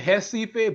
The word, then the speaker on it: Recife: And I'm saying Recife, but y'all know words in Portuguese that start with an H is actually a R.